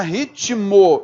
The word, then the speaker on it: ritmo: Beleza, a palavra ritmo, o T é mudo, né?